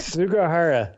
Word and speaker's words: Sugahara: We'll talk about that here in a minute, along with Kenji Sugahara. Am I saying it right? Sugahara.